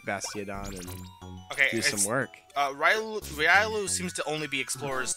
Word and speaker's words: Riolu: You can find Graveler, Seviper, Beldum, Wormadam, but only the Sandy Cloak, Riddloo, Granados, Dolphin. Actually, wait, Riddloo might be special because it has a question. Are you saying Riolu?